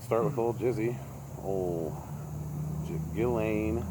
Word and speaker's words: Ghislaine: with old jizzy oh gillane maxwell gallane that's how you say her name correct yeah she's she's still